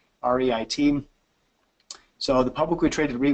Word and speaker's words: REIT: the term I'll use by the way you pronounce that Reit Reit so the publicly traded re would trade just